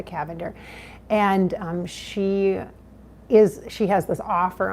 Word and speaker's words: Cavender: media, I think Rebecca Cavender, it's spelled like lavender, but with a C, Rebecca Cavender.